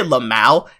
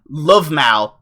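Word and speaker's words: LvMao: Did I say Lamau? It's supposed to be Lovemau.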